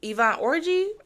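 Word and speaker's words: Yvonne Orji: was married to Molly from insecure Ivonne um Ivan orgy that's how you pronounce her name I just know her as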